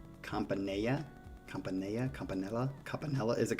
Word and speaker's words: Campanella: Variation on, however you say it, La Campanella. I see, again, whenever I see two L's, I think Spanish, and it's not pronounced that way. Campanella?